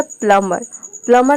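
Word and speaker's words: plumber: ये प्लम्बर नहीं होता है, यानी कि बी को हम प्रोनाउंस नहीं करते हैं, बी साइलेंट रहता है, प्लम्बर होता है प्लम्बर।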